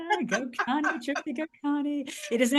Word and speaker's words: Gokani: Gokani, Tripti Gokani.